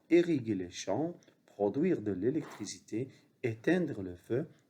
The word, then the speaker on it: produire: Produire. U-I se prononce oui. Produire comme lui.